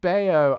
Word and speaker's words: Bello: Bello is pronounced Bayo.